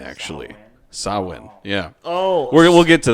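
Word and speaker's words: Samhain: you shouldn't me so yeah mitch you're saying sam hayne it's pronounced sauhan actually sawin yeah oh we'll get to that in a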